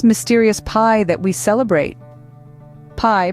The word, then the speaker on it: pi: pie that we celebrate pie pronounced like The Delectable dessert but spelled differently is an extraordinary mathematical